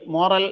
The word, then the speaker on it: morale: പക്ഷേ വേറൊരു വേർഡ് കൂടിയുണ്ട്, എം ഒ ആർ എ എൽ ഇ. ഒരു ഇ എന്ന ലെറ്റർ കൂടുതലാണെന്നുള്ളൂ, അതിന്റെ ഉച്ചാരണം മൊറാൽ എന്നാണ്. ഈ മൊറാൽ എന്ന് പറഞ്ഞാൽ യു എസ് ഇംഗ്ലീഷിലെ ഒരു ആണ് സാധാരണയായിട്ട് ഉപയോഗിക്കുന്നത്.